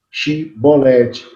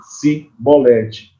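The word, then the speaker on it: שִׁבֹּלֶת: Eles não conseguiam falar chibolete, eles falavam cibolete.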